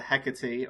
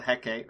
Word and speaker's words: Hecate: So the Empress appears around a bit of the Hecate, or the Hecate, however you want to pronounce it.